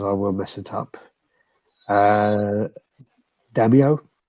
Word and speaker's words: Daimyo: Daimyo? Daimyo? Yeah, Daimyo.